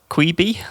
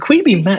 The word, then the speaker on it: Quibi: Quibi. I don't know if that's how you pronounce it. That's exactly it. Quibi.